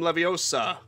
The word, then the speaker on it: Leviosa: Anyway, as I was trying to say, I remember when Wingardium Leviosa best for Hermione judging Ron for not pronouncing it properly. It's Leviosa, not Leviosa.